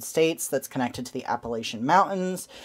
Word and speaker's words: Appalachian: to the Appalachian Mountains, or Appalachian, which is, I believe, the correct way to say it. But I grew up saying Appalachian because I lived in the northern part of it. And that was just kind of how it was said, so I tend to